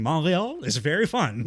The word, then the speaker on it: Montreal: I think personally, because I've done it before on this podcast, saying Montreal is very fun.